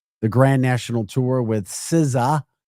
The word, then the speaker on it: SZA: The Grand National Tour with Siza. Siza is spelled Sza.